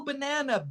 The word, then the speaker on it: banana: Uh, It has no sound. The word, you could spell banana Bnanu, actually, if you wanted to. In fact, you could spell it Bnaa-N-U, because the first A has no sound. It's like bin, bin. We go from B to N, bin, with no mm, sound.